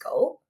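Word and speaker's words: 五: While talking about the fives, the number is actually symbolic because in Japanese, the number five is pronounced go.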